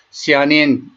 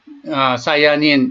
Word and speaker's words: 시아닌: 안토시아닌 계통은 시아닌, 사이아닌 이렇게 발음하기도 하는데 이런 것들은 아주 항산화 작용이 저명한 그런 물질군이 되겠고요.